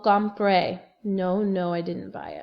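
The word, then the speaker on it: compré: then you're gonna say compre c om p r e accent on the e no no no come pray no no I didn't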